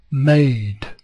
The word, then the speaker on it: made: went to college went made made you see the star there suggesting that that e makes that a say its name not its sound its name is a made I got top marks